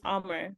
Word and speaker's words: Omar: I think it's Amar Amar is how he said his name is pronounced but I always called him Amir and he was like no it's Omar but like I would